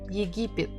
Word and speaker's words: Египет: Egypt, Египет. Egypt, Египет. Египет. Stressing the second syllable.